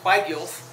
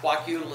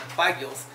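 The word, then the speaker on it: Kwagiulth: The tribal affiliation is pronounced Quagyulth, and not Quakutal as you'll see in some of the older books, but Quagyulth.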